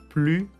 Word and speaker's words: plus: adjectif plus que attention on ne prononce pas le s de plus plus que voilà trois exemples